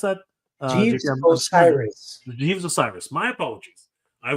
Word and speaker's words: Osiris: but um uh J je Jes or right osaris how do you can you pronounce that Osiris Jes Osiris my apologies I was I was